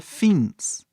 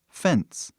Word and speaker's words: fence: Ele não é pronunciado, então a pronúncia deveria ser fins, né? Porque o nome dessa vogal é I, então fins. Mas ninguém fala fins, falamos fence.